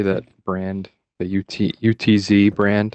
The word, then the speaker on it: Utz: The UTZ brand. How do you say that? Utz?